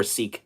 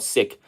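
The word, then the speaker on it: Sikh: in they're siks so is it called siik or seik I think it's called siik so when they come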